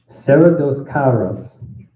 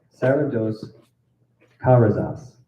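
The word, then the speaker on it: Serra dos Carajás: Serra dos Caras. Sorry, let me pronounce that correctly. Serra dos Carasas is an important area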